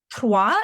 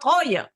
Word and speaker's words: Troyes: And congratulations for saying it right, by the way, because it's Troyes. Yeah. And you knew to say Troyes and not Troyes.